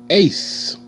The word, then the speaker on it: ace: Ace. A. A. Ace. E is silent. And you see the C make the S sound, because the C came before a E. C coming before E, I, or Y is going to make the S sound.